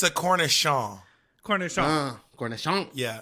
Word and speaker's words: cornichon: Cornichon.